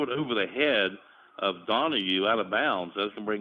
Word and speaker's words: Donahoe: I think it's pronounced Donahue, but Donahue.